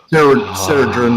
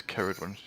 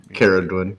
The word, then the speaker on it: Caradwin: Ceradrin will race to my safety. It's Caradwin. Caradwin. He uses a hard C.